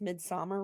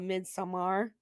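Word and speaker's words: Midsommar: you guys actually pronounce midsummer right, because I hear too many people call it midsummer, and I'm like, that's Yeah. yeah, it's a Swedish word, and that's not how you say it.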